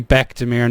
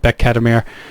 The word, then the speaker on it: Bekdemir: Engin Bekdemir, jeez, I've been pronounced his name wrong, and it's actually Bekdemir, not Bekdemir.